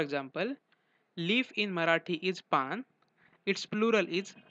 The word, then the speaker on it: पाने: पान it's plural is पाने. While speaking, पाने is pronounced as पान. The last न with dot on its with last न with dot on it is pronounced as a nasal sound न.